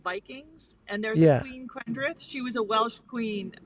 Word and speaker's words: Quendrith: so your name then quendreth have i got the pronunciation correct it sounds like a welsh name to me yes you're absolutely right so my mother spent